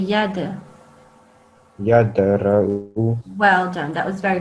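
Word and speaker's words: يدرأ: So say it with a jumping sound, this dal. Yadura'u. Yad, say yad. Yadra'u.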